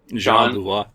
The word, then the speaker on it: Jean Beauvoir: Juan Beauvoir, I think that's how you pronounce his name. Jean Beauvoir.